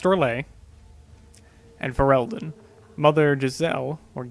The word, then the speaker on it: Orlais: It is pronounced Orlais.